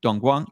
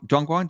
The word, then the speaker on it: Dongguan: And that's the beauty about educating you guys about cities like Chongqing, or where Noel is Dongguan. Dongguan, did I pronounce that correct? Yeah, that's right. That's Dongguan.